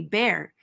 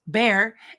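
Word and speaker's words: Baer: not to be missed Jane's last name is pronounced phonetically bear she was our friend Dale bases that's bare and his wife she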